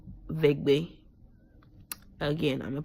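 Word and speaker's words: Eʋegbe: In my language name is called Vegbe. Again, I'm gonna pronounce it again, Vegbe. That's how you say it in my language, but in English it's called Ewe.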